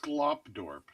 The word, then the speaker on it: Skogtorp: It's Skogtorp. Skogtorp is the name of the estate. Gotcha. There we go. Skogtorp. There we go. It's pronounced Sklopdorp.